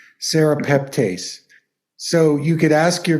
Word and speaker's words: serrapeptase: to put it in the chat here um it's spelled s-e-r a p e p t a s t Sarah peptase so you could ask your kinesiologist another one